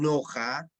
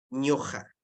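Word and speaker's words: ñuqa: en sonido en pronunciación otros dicen noja ya en huanuco Generalmente y en conchucos es mi zona variante otra variante es ña ña y noja ya miren tres tres Tres formas diferentes de pronunciar para la oralidad pero la escritura estandarizada nos pide solamente una ya en este caso sería ñuja nada más ya entonces fácil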